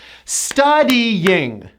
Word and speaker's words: studying: Now, this word has 3 syllables, not 2 syllables, because most of my clients pronounce this word with 2, but it's 3 syllables. Studying with a strong Y, which you have to push.